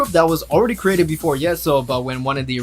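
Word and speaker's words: Yeseo: might be the youngest so it's yeso it's pronounced as yes so in the group but she has the most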